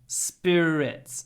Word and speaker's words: spirits: Jin they're spirits spir Spirits spir big difference between Russian spirit and English Spirits is we stretch the S Spirits Spirits oh and that's a